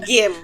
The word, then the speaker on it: Gehm: Game. Ninguém acerta. Fica tranquila. Eu falava gente. Não tem problema. Mas é game, tá?